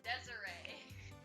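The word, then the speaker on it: Desirée: is i know it's desiree but it spelled desire no it's spelled desiree he's like he thinks it looks like desire no there's an accent on the e it's pronounced desiree we're canadian and we've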